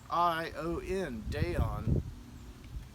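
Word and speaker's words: Daion: So this Dayon guitar, I'm going to spell that again if you cannot see it. It's D-A-I-O-N, Dayon.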